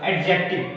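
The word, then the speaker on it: adjective: इसका grammar profile एडजेक्टिव है, एडजेक्टिव sorry यार एडजेक्टिव, डी साइलेंट रहता है।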